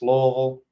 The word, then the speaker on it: Louisville: Um, grew up in Louisville and I know how to say it. It's Louisville. Ain't that Louisville and all that craziness?